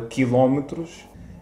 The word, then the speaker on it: quilómetro: E acrescentamos o som de lhe ao L, como, por exemplo, a palavra quilómetros. Eu digo quilómetro e vocês dizem?